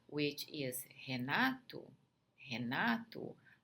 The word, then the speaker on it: Renato: Renato. Some Americans may say Renato when they say it really, really quickly, but you guys can insist on pronouncing the true T. Renato.